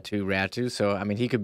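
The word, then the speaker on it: Räty: And Ratu, who I learned that's how it's pronounced. It's not pronounced Ratty. It's Ratu.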